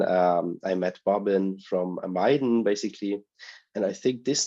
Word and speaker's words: Miden: all listen really carefully it's like you're putting on Maiden oh okay oh yeah